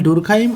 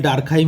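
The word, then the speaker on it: Durkheim: এটা ঠিক হয়ে যাবে ওকে ইমাইল ডুরখাইম এটার উচ্চারণটা কি হবে ইমাইল ডুরখাইম আমরা অনেকে অনেক বইতে তোমরা ইমাইল ডার্কাইম হিসেবেও দেখতে পারো ওকে ম্যাক্স ওয়েভার ম্যাক্স ওয়েভার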